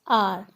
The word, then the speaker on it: hour: The consonant H is silent in the word R and word our is pronounced as R.